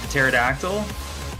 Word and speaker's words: pterodactyl: Yeah, the dinosaur bird, the pterodactyl. The P is silent.